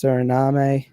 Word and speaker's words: Suriname: Guyana - well it's it's spelt like surname but I think it's Suriname a and these guys